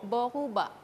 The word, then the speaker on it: boruba: Boruba. Boruba. Iya. Tetap R-nya berkarat itu. Iya, kan? Betul. Boruba, bukan berubah ya, Kak?